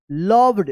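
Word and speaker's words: loved: the wooden table Mohan लव्ड देखिए एल ओ वी ई डी क्या यहां पे लास्ट में इ आया है और इस ओ का अ उच्चारण हो रहा है जैसे कम सम डम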